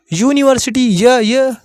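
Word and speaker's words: university: अब भैया पहला अक्षर यहां भी तो यू है, यहां पे दिख रहा है, लेकिन इसका प्रोनाउंसिएशन क्या हो रहा है हिंदी में? यूनिवर्सिटी। ये आ रहा है। ये क्या है? ये कॉन्सोनेंट्स है आपका।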